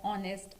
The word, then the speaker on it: honest: and not a, because H is silent, it is not pronounced as a consonant, but the vowel sound is prominent and therefore it will take the article an.